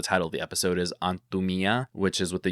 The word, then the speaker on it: Antumía: The accent is on the A here, and the accent is on the I on the version that we used.